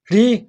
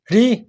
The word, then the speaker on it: ऋ: इस ऋ को आपको शीघ्र बोलना है। इसको बोलते समय आपको अधिक लंबा नहीं खींचना है। ऋ ऋ ऋ यदि आपको ऋ का उच्चारण करने में